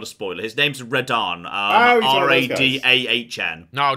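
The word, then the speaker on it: Radahn: intro sequence it's not a spoiler his name's reddarn um r-a-d-a-h-n no not like the godzilla one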